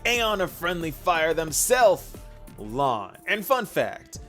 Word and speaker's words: Lan: of Friendly Fire themself, Lan. And fun fact, though Lan means mist in Chinese, it is pronounced the exact same way as the word blue.